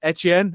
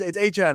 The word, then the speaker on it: Etienne: they went for Travis Etienne. Am I pronouncing that correct? I think it is like the French. Etienne, yeah.